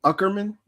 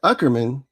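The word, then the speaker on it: Aukerman: So we go to Craig, I want to say Uckerman. A is silent.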